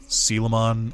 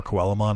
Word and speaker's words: Coelamon: I really liked the camon or coelamon if you say it phonetically I really liked the